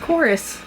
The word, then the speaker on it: Chorus: it's that's a v it's a v but it's pronounced chorus that's a v it's pronounced chorus i know that anyway